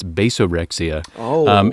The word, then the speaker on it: basorexia: uh basorexia uh bass that first part's actually pronounced bass it's basorexia it is a bass